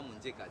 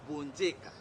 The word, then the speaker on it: Bonjeka: ende tikani ni Monjeka le vrai nom c'est Bonjeka biso ko boti kombo pesa ngando pesa kombo na ya vrai eza Bonjeka eyala dans ce cas